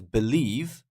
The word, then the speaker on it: believe: number two is different because believe believe is on the second syllable Fortune is on the